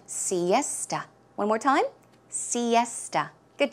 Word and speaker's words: siesta: the afternoon pronunciation is Siesta esta so it's more of a t sound Siesta one more time Siesta